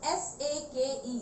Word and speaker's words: sake: It is spelled as S-A-K-E, sake, but it is pronounced as fake. It can be pronounced as fa, and it is pronounced as the rhyme of way.